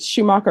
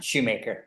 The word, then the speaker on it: Shoemaker: Is it Schumacher or Shoemaker? Shoemaker.